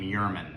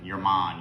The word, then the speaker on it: Jermann: its traditions and history thus the name Yurman your Mon German is the pronunciation of this of this